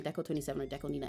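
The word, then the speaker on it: DECO*27: was just singing by Deco27, I don't know why I say I I alternate constantly between saying Deco 27 or Deco Nina. It's pronounced Nina, but um anyway, for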